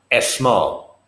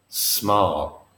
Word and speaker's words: small: that's small notice here we do not put a vowel in of an S if a word begins with the letter s it begins with the sound s small not as small small squeeze not a squeeze squeeze small okay fine fine